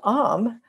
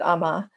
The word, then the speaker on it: Ama: So then Am, or some people pronounce it Ama, but it's Am.